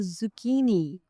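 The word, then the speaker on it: zucchini: तो जो 11व नंबर पर जो सब्जी आती है वो है जुकीनी जुकीनी। इसको मैंने पहले प्रोनाउंस करना सीखा।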